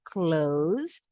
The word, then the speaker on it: close: huruf s tapi ternyata kata kerja close tutup menutup tertutup itu s-nya bunyinya Z tapi kalau kata Prom s-nya tetap S bedakan denganose kata sifat fat atau preposisi close artinya dekat artinya sama dengan near Nah kalau yang ini